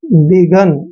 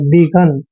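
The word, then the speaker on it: begun: है बिगन पढ़ना है ना कि आप इसको डोन नोन बेगोन ऐसे नहीं पढ़ेंगे डन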